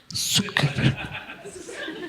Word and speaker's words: Цукерберг: Миллиардер, Цукерберг десең ғой, цыға ударение берді. Цукерберг.